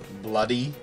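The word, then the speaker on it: Bloo-D: And so, because the way you pronounce it is Blue D, bloody, but then at the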